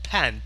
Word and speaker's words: pan: Now notice that this is frying pan, P-A-N. P-A-N. This is pronounced as pan. This is the frying pan, not frying pen, frying pan.